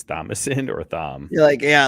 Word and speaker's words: Thomas: It's Thomas. Thomas is spelled THOMAS, and you just right, but nobody has ever kept the H in there.